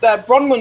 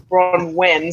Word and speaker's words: Bronwen: Bronwen is actually Welsh, so it comes from Wales.